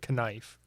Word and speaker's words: knife: That was like the most Midwestern thing ever, because like growing up, I always would say knife. Really? You pronounce the K.